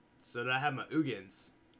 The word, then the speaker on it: Ugin: that I have my Ugins. Eugene, yes, Eugene. So that is how the planeswalker is pronounced and spelled, correct?